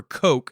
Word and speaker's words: Koch: and he said well it's german for coke and so i just pronounce it coke so i think that's